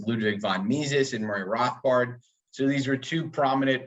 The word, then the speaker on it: Rothbard: And is it, am I saying it right? Rothbard. Rothbard. Yeah.